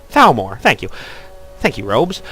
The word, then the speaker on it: Thalmor: And Ulfric got his end of the bargain until the Talmar. You know, it's going to annoy me because I'm getting the name wrong, and I shouldn't be getting the name wrong. Thalmor, thank you.